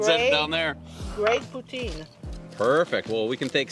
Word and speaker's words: poutine: Is that the right pronunciation? It is poutine, yeah.